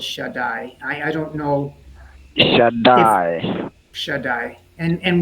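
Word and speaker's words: שדי: And in this instance, we have a different spelling of the name of God, and it is pronounced by all as Shaddai.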